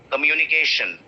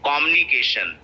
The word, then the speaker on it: communication: So people say communication बोलते हैं, कुछ बोलते हैं communication, right? So these are all wrong pronunciation. So this word is pronounced as communicate. K is getting stressed, right?